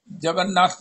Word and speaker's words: जगन्नाथ: जगन्नथिया, जगन्नथिया। नहीं नहीं रवि जान जी शुद्ध उच्चारण करके दस्यो उन्होंने, प्रधान जी और अध्यक्ष जी ਨੂੰ।